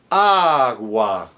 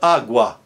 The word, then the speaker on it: agua: Example, agua. It's not agua, it's agua.